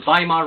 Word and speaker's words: Weimar: before it was called the Weimar Republic spelt with a W if you want to google it but it was Germany after World War one called the Vimal republic and it was very